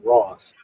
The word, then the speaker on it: Rohs: and it is the Ross Opera House. It is spelled Rohs, but it's actually pronounced Ross, and it's in Cincinnati, Kentucky.